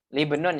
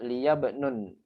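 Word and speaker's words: لِابْنٍ: Ini bacanya libnun ya karena hamzatul wasl. Libnun wa bintun atau bisa juga liyabnun karena iltiqa sakinan biasanya gitu.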